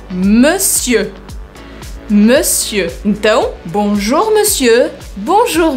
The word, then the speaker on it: monsieur: Prestem bem atenção como eu mexo a minha boca. Eu não falo anasalado. Eu não falo monsieur. Eu não pronuncio como tá escrito. Eu pronuncio de uma outra forma. Agora, por quê? Que a língua foi se transformando e não se transformou a forma de escrever essa palavra. Então, eu falo monsieur.